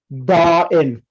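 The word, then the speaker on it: داعٍ: And because it has a weak letter at the end, so the ya at the end will be dropped and it will be pronounced da'in.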